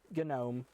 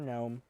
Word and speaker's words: GNOME: center that comes with GNOME or GNOME. Again, you can pronounce it either way.